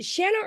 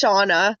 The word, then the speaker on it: Shauna: two okay and Shana is it Shana or Shauna because I'm sick of not knowing if I'm pronouncing your name wrong it's Shauna shaa okay that's I was